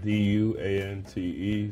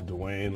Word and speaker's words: Duante: It's spelled D-U-A-N-T-E, so I get everything from Duante to Dwayne, like the T is silent, if you know what I mean.